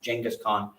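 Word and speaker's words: Genghis Khan: back after that we'll talk about U Mongolians genas Khan or who's pronounced jenas Khan kuon and then the rise of the Ottoman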